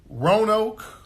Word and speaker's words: Roanoke: How do I pronounce it? Roanoke.